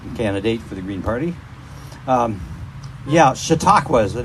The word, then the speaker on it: Chautauqua: Chautauqua is the name you pronounce that.